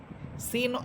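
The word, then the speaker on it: س: সিন এটাও চিকুন হরফ এবং এটাও ঝিঝি পোকার মতো আওয়াজ হবে।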